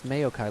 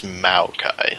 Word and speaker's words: Maokai: that game it's uh it's not mei it's mayo it's m-a-o what it's mayokai like this m-a-y-o i thought it was maokai like m-o-w no like mayonnaise like mayonnaise no i pronounce things however